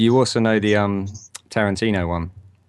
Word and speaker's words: Tarantino: So if you can people just remind your friends that it's Tarantino, not Tarantino.